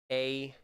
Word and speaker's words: anpa: We haven't gotten to this word yet, but there's also the word anpa, A-N-P-A. Those syllables are anpa.